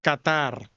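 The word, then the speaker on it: καθαρ: Unos tienen la raíz léxica Qatar, no como el país, pero se pronuncia como el el país.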